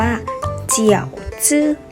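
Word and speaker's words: 饺子: สอง ก็ คือ เกี๊ยว นะ คะ อ่าน ว่า เจี่ยว ซื่อ เกี่ยว ซื้อ แปล ว่า เกี่ยว ค่ะ ส่วน เมนู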